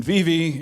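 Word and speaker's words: Vevay: a radio station in VV Indiana it's spelled V vey but in Indiana we say V V the same way we say Versailles rather than Versailles so it's good to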